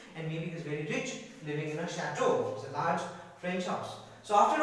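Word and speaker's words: château: chateau see it is te in use the pronunciation is chateau not a to kick this is shadow a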